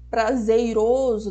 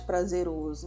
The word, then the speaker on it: prazeroso: não pode abortar dela ou prazeiroso no lugar de prazeroso então esses são alguns